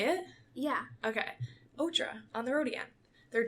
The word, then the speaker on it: OTRA: So I only went to the Otra tour. And, what? Otra. Isn't that how you say it? Yeah. Okay. Otra, on the road again.